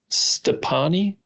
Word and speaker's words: Stoppani: Anyway, on this, so this listener's son, he used to take supplements from someone named Jim Stepani. I think that's how you say it. Stoppani. Yep.